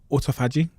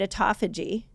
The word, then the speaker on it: autophagy: People either call it autophagy or Autophagy. autophagy. People say it different. You can tell me I said it wrong. I kind of landed on autophagy. I feel like Autophagy. autophagy is the best way to say it.